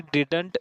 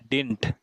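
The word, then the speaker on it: didn't: Clear कर देता हूँ, इसे कभी भी डिडंट नहीं पढ़ते दोस्तों, इसे पढ़ते हैं डिंट। क्या पढ़ते हैं इसे, डिंट। कैसे प्रोनाउंस होगा ये, डिंट, डिडंट नहीं होगा। ये वाला जो डी है इसे कर दीजिए आप साइलेंट, और ये मैंने इसको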